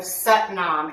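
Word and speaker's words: Sat Nam: a simple chant of satnam s-a-t-n-a-m it's pronounced like s-u-t nom we're going to say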